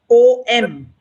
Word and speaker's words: om: syllables if you go om is a three lettered syllable sound wise so when you are chanting the syllable is oh it's in three parts so first is o then is oo and then is um the closing mum all right so it